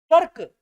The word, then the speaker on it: कर्क: कर्क, रुकेगा रम, कर्क का पूरा, ये का पूरा, ये का पूरा, ये आधा। कर्क का के ऊपर है, का से पहले उच्चारण, ये नीचे है।